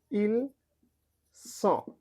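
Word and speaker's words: ils sont: উচ্চারণটা যখন এটা হবে, ইল স, একটা চন্দ্রবিন্দু হবে, স এর উপর একটা চন্দ্রবিন্দু দিলে যেরকম হয় উচ্চারণটা, ওরকম।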